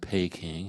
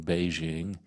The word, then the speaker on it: Beijing: just like you know when I was younger we called the capital of China pay King and should have been Beijing um capital of India